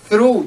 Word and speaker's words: throw: 对了啊，扔篮球的扔就是丢篮球，丢扔垃圾。Throw, THROW，记住啊，TH 发音的时候呢要 z，OK？